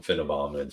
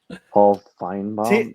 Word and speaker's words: Finebaum: I don't know why you're calling him Finnenbaum. Sorry, he probably heard me mispronounce his name. It's Paul Finebaum.